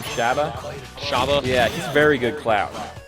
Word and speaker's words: Shabba: But how do you pronounce his name? Shabba? Shabba.